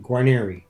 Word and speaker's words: Guarnieri: I pronounce my last name Guarnieri. Now, here's the background on this. My grandfather, we have papers where my grandfather was Guarnieri, like the violin.